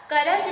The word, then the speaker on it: कर्ज: करज लिखा है तो आपका शुद्ध उच्चारण क्या आएगा, कर्ज।